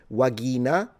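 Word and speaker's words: vagina: The V is a W and the G is a G. So, pronunciation is a little different. Uh, you would pronounce this wagina, but you know what I mean.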